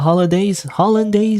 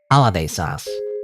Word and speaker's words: hollandaise: First, we'll make the hollandaise sauce. Holiday sauce. I don't pronounce it. Holiday sauce. No, Paddy. Holiday sauce. That's not holiday sauce.